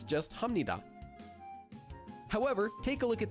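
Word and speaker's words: 합니다: We previously learned that this is pronounced hamnida because there's the consonant biup that's followed by a nian.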